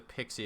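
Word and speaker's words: PKCE: from Olaf comm okay pixie is proof key for code exchange pronounced pixie see I knew it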